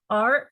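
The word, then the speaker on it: 耳: you pronounce very lightly R is third tone you go down first and then you go up so following Cone first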